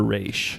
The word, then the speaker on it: Ra's: um yeah is it ra's or race so I've heard arguments for both yeah I always grew up thinking it was racial right because I mean traditionally in the comics it is pronounced race but because uh racial